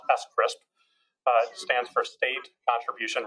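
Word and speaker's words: SCRSP: c rsp which stands which we pronounce s crisp uh stands for state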